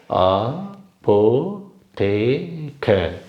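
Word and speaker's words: Apotheke: முடியும் அதனால அதனால சொல்றேன் அப்போ டேக் இது நாலு சிலபல் இருக்கு இதை வந்து நம்ம இது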